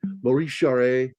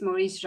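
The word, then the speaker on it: Maurice Jarre: Maurice Sheree. Uh, another one. Vanelis, I Oran. Um, Vanelis. It's It's actually There's no accent on the E, so it's silent. It's Maurice Ja.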